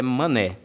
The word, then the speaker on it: Manet: A gente costuma chamar aqui no Brasil de Manet, mas a pronúncia em francês é Manet.